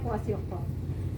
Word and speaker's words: kwashiorkor: Marasmus, kwashiorkor, tulisannya KW kwashiorkor. Susah banget tulisannya. Ya, bacanya kwashiorkor.